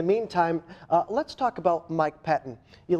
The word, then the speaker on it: Pettine: In the meantime, let's talk about Mike Pettine. You like that transition there? Again, these cheese puns will help you learn how to say the names. The new defensive coordinator, Mike Pettine, not Pettine. Mike Pettine, what do we know about him?